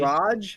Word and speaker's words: Rog: It's not a hard G though. Isn't it a soft Isn't it G? Raj?